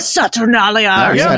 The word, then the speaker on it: Saturnalia: I'm saying that like a total idiot. I know it's you said it right. Like Saturnalia. That's it. It was right.